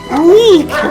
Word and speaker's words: Reek: Reek rhymes with freak.